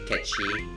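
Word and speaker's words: Cait Sith: just do know that i will be saying catchy because that's how it's technically pronounced and we'll leave it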